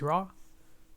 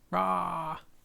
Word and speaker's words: Rah: My name is Ra, pronounced like how a lion roars, Ra.